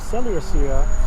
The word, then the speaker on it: Seleucia: Ananias, seeing the danger of this contention, and that Apollonius, as being the governor of Seleucia, that's how you pronounce it, and Phenis did rage and increase Simon's malice.